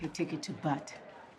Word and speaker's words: Butte: I'd like a ticket to Butte. I believe it's pronounced Butte. Oh.